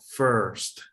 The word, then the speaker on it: first: Haz de cuenta que la I se convierte en una O. First.